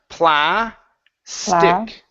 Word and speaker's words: plastic: be pla stick plastick good one more time plastick plastic good put it together plastic plastic almost